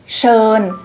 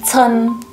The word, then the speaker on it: เชิญ: คน นึก ออก มย ส่วน สระ เอิ อย่าง เงี้ย เรา จะ ออก เสียง ค่อน ข้าง ยาว ใช่ ไหม คะ แบบ เชิน แต่ ว่า ใน ภาษา จีน น่ะ ก็ จะ พูด สั้น หน่อย เป็น เอ อย่าง เงี้ย นะ คะ เรา พูด เชิญ แต่ ภาษา จีน จะ ออก เสียง เชิน อ่ะ เดี๋ยว เรา ลอง